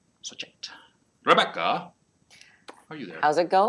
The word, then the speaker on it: Shoichet: I like to tell people it's sort of like it rhymes with toy kit. Like if you had a kit full of toys, it's like Shoichet. Shoichet.